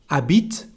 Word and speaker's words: habite: Habite, we don't pronounce the letter H.